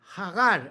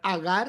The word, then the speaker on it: Hagar: egipcia, cuyo nombre es Hagar. En hebreo es ja. Esto empieza con he ja de aliento hacia afuera. Hagar. Otros pueden no más pronunciar agar, está bien, pero la pronunciación más apegada es hagar.